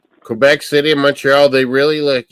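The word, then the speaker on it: Montréal: Is it pronounced in French Montreal? Montreal. Okay. So you don't say the T, yeah, Montreal.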